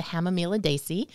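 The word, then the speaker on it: Hamamelidaceae: which is known botanically is hemamilis is the Hama miladesi hamamila Desi yes so the hemelidacy family two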